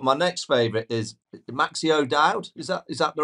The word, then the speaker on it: O'Dowd: I mean, you're my favourite, obviously, but my next favourite is Maxi O'Dowd. Is that the right pronunciation?